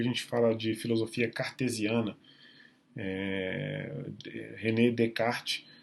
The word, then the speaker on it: René Descartes: René Descartes, essa é a pronúncia sem a pronúncia desse S e desse S, porque é francês, né?